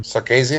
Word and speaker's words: Sarkisian: The fact that Kyle Shanahan left the Falcons, and then how do you pronounce his last name? Sarkisian.